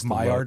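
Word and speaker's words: Maillard: So, there's like Mayard reactions. I think I'm pronouncing that correctly.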